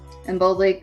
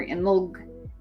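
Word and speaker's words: Imbolc: celtic festivals was in bulk pronounced in boldly or in log with a tiny hesitation or unstressed value after the l it means in the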